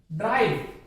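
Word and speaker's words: drive: जैसे ड्राइव, यहां आर के बाद आई, आई की ध्वनि आ रही है, आई, ड्राई, तो आई की ध्वनि आ रही है, यहां पे बोलेंगे।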